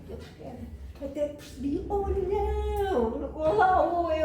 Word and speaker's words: Olhão: Até percebi, olhão. Olá, oi, olhão. E lá lhe expliquei que em português aquilo se pronunciava olhão e que deviam ir em tal direção.